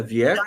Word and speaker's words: Wiecko: Ela Vieco, eu estou pronunciando certo o seu nome? É Vieco? Certíssimo. Tá.